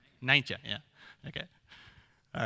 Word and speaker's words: Nijntje: I'm gonna pronounce it wrong. We call it Miffy in the rest of the world. It's Nijntje. Nijntje, yeah.